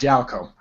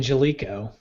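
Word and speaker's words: Jaleco: I believe it's pronounced Jalco. Jalco. Okay. I was thinking Jalico, but Mm-hmm. We already covered a Jalco game like my podcast. I've always said Jalco.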